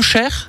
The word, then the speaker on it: heuchère: plante symbolique c'est alors j'espère que je prononce bien le Cher oui c'est ça alors ça s'écrit donc